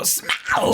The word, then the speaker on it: Smaug: I think the true pronunciation is like you're supposed to sound like an '80s rocker. You go Smaug, Smaug, the rise of Smaug and the death of Smaug.